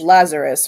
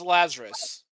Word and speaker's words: Lazarus: So, we're just going to ignore the fact that the proper pronunca pronunciation is Lazarus, right? Yeah, it's Lazarus.